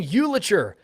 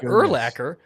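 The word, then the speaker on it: Urlacher: was hilarious my buddy didn't know how to pronounce his last name so he goes dude we just got brian uliter yes we got brian uliter legend who is brian eulacher oh yeah we just got erlacker so i thought that was one of the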